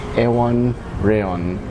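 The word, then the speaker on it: Iwan Rheon: And I had to check how to pronounce his name. It's Ewan Reon, who was Ramsay Bolton in Game of Thrones.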